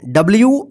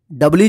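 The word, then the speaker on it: do: लिखना डू डी ओ डो नहीं पढ़ेंगे इसको डू पढ़ेंगे डू मतलब करना वाक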